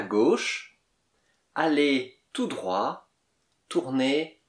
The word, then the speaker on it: droit: Tournez à gauche, allez tout droit, tournez à droite. Droite, T-E, on ne dit pas le E, mais on dit le T avant le E. Droite, comme en anglais, right, il y a T à la fin.